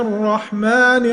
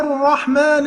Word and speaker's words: الرحمن: تخلي بالك ما تبرزش شفتيك في كلمة الرحمن. ما تقولش بسم الله الرحمن كده يبقى بتعمل ايه؟ اشمام في الحرف ده. لا، انت تنطق زي ايه؟ لما بتقول واحد يا عبد الرحمن، تمام؟